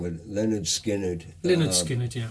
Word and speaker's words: Lynyrd Skynyrd: Okay, well, this is, I always get the pronunciation wrong, but Leonard Skinner. Lynyrd Skynyrd, yeah. Lynyrd Skynyrd, yeah.